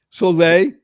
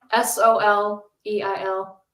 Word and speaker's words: Soleil: How do you spell your name, Soleil? S-O-L-E-I-L. The sun. Wait a minute. How else you going to spell Soleil? You think I would spell it? By the way, that was for you, Yasmin, because Yasmin's in Paris right now. So somebody might spell it Solay, but no, Soleil, right?